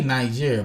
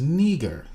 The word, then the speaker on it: Niger: well the pronunciation for this word they say nigeria but the pronunciation is neger you can see it right there niger that's